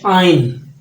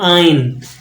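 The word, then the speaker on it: ein: 20 भी है तो वन को आप क्या पढ़ते आइन एस नहीं आपने लगाना सिर्फ लिखना आइन उंड यू एनडी उंड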